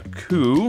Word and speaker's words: coup: Violent government overthrow is a coup, which is spelled funny with a P.